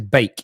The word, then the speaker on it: Beek: it's like it's surname's bake it's pronounced bake like bacon cake but continue please okay